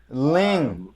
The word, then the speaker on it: Lyng: i n g uh but no it's not it's just l y and g link ling and i lean it probably shouldn't be pronounced like that but that's the only way i've ever heard my family pronounce it so that's what it